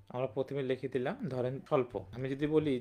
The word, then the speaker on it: স্বল্প: যেমন আমরা বই বলি, বই বলতে ব এবং রসে এই বটা ব আমরা বলতেছি, কিন্তু আমরা যখন স্বল্প বলতেছি তখন কি এই বটা উচ্চারণ করতেছি না।